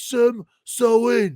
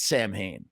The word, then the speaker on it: Samhain: you pronounce it Glenn well technically it's Sam sa but he he says it's Sam Hayne they all call it